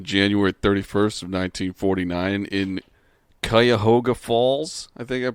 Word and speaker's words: Cuyahoga: was born on january 31st of 1949 in cuyahoga falls i think i'm pronouncing that i believe you are cuyahoga yeah in ohio and uh the first of